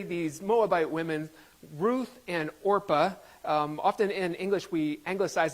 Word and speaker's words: Orpah: These women's names are Ruth and, I always mispronounce it, Orpah. And if I say Oprah today, this is a little known fact, but Oprah Winfrey, her birth name was Orpah.